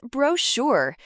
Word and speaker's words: brochure: Question 10 answer is brochure. Note, ch sounds sh, spelling b r o c h u r.